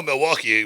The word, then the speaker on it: Milwaukee: yeah well you know Milwaukee was actually by the Indians pronounced milwauke yes we're not worthy